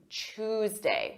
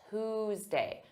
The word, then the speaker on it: Tuesday: it first for pronunciation some native speakers pronounce Tuesday as CH Tuesday with a CH sound Tuesday this is not standard pronunciation in American English in American English Standard pronunciation is Tuesday Tuesday but you may hear Tuesday so don't be confused but I recommend you use Tuesday let's talk about to